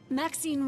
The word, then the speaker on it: Maxine: of most exquisite varieties Maxine rhymes with Queen after all and dearest that is